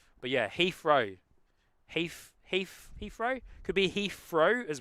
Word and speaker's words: Heathrow: Heathrow. Heathrow. Could be like Heathrow, so H-E-A-F, row. Or like Heath as the name, as it's actually spelled. But yeah, Heathrow.